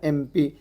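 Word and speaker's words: MP: तो बोल रहे थे ए ई आई ओ यू आना यहां पे जो है एम है इसको क को एन आ रहा है यहां प बोलके सोचते एम पी एम बोले तो अपन कसी आवाज से निकाल रहे हो एक की आवाज से निकाल रहे हो ना एम आ जाता ई एम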